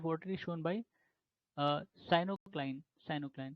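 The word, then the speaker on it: pycnocline: Density gradient in body of water is shown by साइनोक्लाइन, साइनोक्लाइन P silent रहता है इन सब में।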